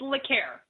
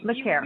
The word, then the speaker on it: LeCaire: It's LeCaire. So LeCaire.